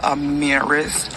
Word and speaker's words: Amarise: r k can you pronounce her name is pronounced amiris Amir amiris she she was 15 I'm